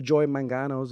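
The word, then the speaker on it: Joy Mangano: on HSN because we've all seen the The Joy mangos or yeah did I say her name right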